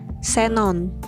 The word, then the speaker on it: xenon: dari dan keperluan ilmu huruf x pada posisi awal kata diucapkan es yaitu Seperti contohnya Xenon selanjutnya yaitu huruf diftong